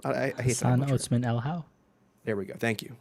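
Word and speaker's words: Otsmane-Elhaou: Marco, do you know how to pronounce Hassan's last name? I hate Hassan that. Otsman El How.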